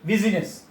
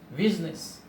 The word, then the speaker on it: business: in the world business I is not pronounced we don't say busyness he said business in the world family